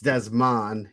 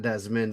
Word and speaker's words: Desman: It's Desman and not Desmond like you had in the uh on the spreadsheet.